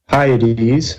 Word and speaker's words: Hyades: is the V shaped Hyades it's pretty it's it's spelled H why I should have put it up here hiya dee dee's I'll just put an H for the Hyades spelled like high eighties